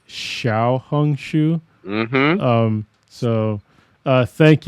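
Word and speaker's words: Xiaohongshu: uh Xiao hung Shu I've been saying it wrong I said Xiao hung Shu before it's Xiao hung Shu mhm um so uh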